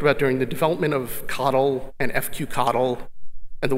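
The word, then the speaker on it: CoDel: spelled co de l it's pronounced coddle coddle fq connell which is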